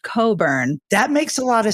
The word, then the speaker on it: Cockburn: last name is cockburn now for the record it is pronounced Coburn because is it really yes it's pronounced Coburn her parents are big